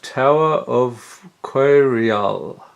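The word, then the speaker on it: Tower of Coireall: masters 25 okay so next up we have Tower of quarry all yes that's how you pronounce it pay to for an artifact you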